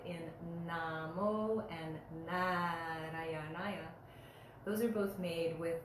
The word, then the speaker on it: Nārāyaṇāya: The first na sound in Namo and Narayanaya, those are both made with the tongue going right on the back of the front teeth and then drawing back.